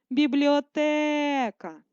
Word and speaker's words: бібліотека: маленької літери слово бібліотека визначаємо наголос бібліотека наголошений звук е ставимо наголос на літерою е погляньте на слова які